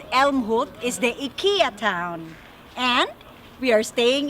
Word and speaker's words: IKEA: In the town called Älmhult is the Ikea town.